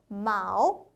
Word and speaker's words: 毛: 정확한 중국 발음은요. 마오, 마오라고 할 수 있어요.